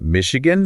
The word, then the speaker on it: Michigan: speaking of tongue twisters we have Michigan Michigan Michigan Michigan emphasis on that first syllable yeah definitely one to